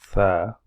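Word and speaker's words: ث: You pronounce this letter Tha from the right underneath of your upper teeth front. Put your tongue underneath your upper teeth front and then starts making sound like Tha.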